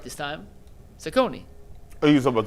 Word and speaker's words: Cecconi: Cecconi. Oh, you was talking about the White Sox? No, I was talking about the White Sox. I was talking about, I said, look at the White Sox. Yeah, Cecconi pitched well.